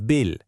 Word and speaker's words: bille: You might also opt for a game of bille.